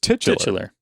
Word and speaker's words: titular: How are you supposed to say it? It's just titular. Titular. Yeah. Oh, then I'm totally saying it wrong.